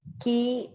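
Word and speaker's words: quay: by the fact that you pronounce q u a y rightly as key may i know how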